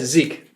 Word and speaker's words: Zeke: Zeke how do you say your name yes Zeke Zeke Jones we we just found out that